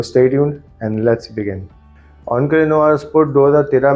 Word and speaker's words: Encre Noire: ऑनके नोवार भी कहते हैं कुछ लोग, ऑनके नोवार भी कह सकते हैं आप। मुझे ऑनके नोवार ज़्यादा सही लगती है इसकी pronunciation, so I will stick with ऑनके नोवार।